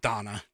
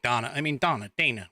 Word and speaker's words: Dana: I mean, Donna Bash, I think it's pronounced Donna now. I keep thinking Dana, whatever.